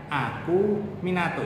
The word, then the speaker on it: acuminatus: Hai meruncing aku minatus tulisannya acuminatus Hai cara membacanya aku Minato Hai yang ketiga Hai